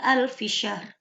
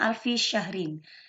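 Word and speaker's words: أَلْفِ شَهْرٍ: Alquran Lailatul Qadr khairum Minan alfisyar yang dibacanya alfisyahrin Ya sudah berwarna merah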